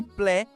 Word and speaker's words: plaît: E plaît, que soa como plé, com o E aberto e o T mudo.